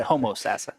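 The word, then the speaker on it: Homosassa: cross country race and being from Florida we actually called it homo sassa yes you almost said it right you know it's the proper way to say homo sassa or or Kissam me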